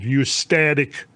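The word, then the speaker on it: eustatic: So this rising and falling of sea levels associated with the expansion and contraction of glaciers is that's what's called ustatic sea level change. It's spelled EU static.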